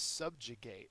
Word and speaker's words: subjugate: next we have is subjugate and subjugates a verb first syllable is accented it means to conquer